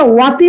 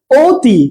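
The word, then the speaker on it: অতি: আমরা কি এটা ওয়াতি বলি? আমরা বলি এটা ওয়াতি, এটা আমরা ওয়াতি বলি না, আমরা এটা বলি ওতি।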